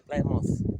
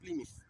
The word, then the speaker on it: Plymouth: Here we say Plymouth, but it's pronounced Plymouth.